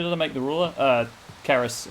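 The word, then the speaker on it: Cerys: Keris, or Ceres, as the game pronounces it. I went to university in Wales. Keris is a Welsh name. It's pronounced with a K, with a hard C.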